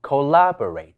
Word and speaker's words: collaborate: 協作讀成 collaborate，但係第 1 同第 3 音